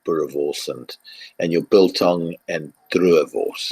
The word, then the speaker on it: boerewors: I've tried boerewors. That for me is delicious. That's a sausage almost, isn't it? But with a very distinct flavour. Yeah, and roll your R's. Say boerewors.